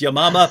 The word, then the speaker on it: Yamama: And writing on this, which Hatun just mentioned, the Battle of, I say Yamama, that she pronounced it correctly, which is Yamama, but as soon as